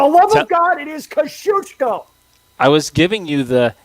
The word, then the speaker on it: Kosciuszko: For the love of God, it is Kosciuszko! I was giving you the, hey, here's how you should pronounce it if you're not Australian.